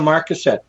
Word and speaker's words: Marcasset: Or not your newest book, the one you're writing, but The Haunting of Marcet, or how do you say it? The Haunting of Marcasset.